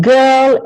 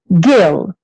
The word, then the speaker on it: girl: And then we go on to the sound, which is difficult for them to pronounce, and we show the like in girl and in yes sir, which they know, and of course birthday, birthday cake, and usually they can say the word girl. If you ask them, say girl, or how do you say girl in English, they will say girl. But if they read it, very often they will read it as gill.